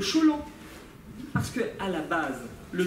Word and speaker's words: tcholent: Alors, certains disent tcholent, tchoulent, cholent. En fait, ce sont des mauvaises prononciations orientales. Pardon pour les Ashkénazes qui entendraient ça, mais il faudrait dire le cholant.